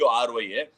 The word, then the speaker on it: awry: Yesterday, Siddharth Adhinarayanan teased me by saying ORRY. Today, it is RE. Siddharth, you tell me how to pronounce it correctly. AWRY.